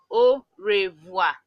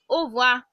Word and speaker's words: au revoir: okay so Oh wha means goodbye then the pronunciation like the long crashing is au revoir au revoir fact in many African countries what